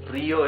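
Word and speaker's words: río: As for Rio, Rio is river. Rio has the rough sound because the R is at the beginning of the word.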